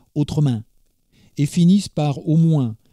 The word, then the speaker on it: autrement: Car il faut vous dire qu’à Tarascon toutes les phrases commencent par et autrement, qu’on prononce autremain, et finissent par au moins, qu’on prononce au mouain.